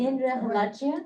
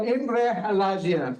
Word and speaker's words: Imre Halajian: How do you pronounce it? Indra Halajian? Oh, Imre Halajian, okay.